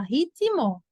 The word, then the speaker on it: ritmo: Pelo que eu falo, seria assim, ó. Ri, ti, mo. No som. Ri, ti, mo. Mas existe um izinho mesmo, gente, aqui escrito? Não. Esse T, ele é mudo. Ele tem esse som com I, ó. Rit, a forma como a gente fala, ritmo. Ritmo, ti, né? Ou ritmo.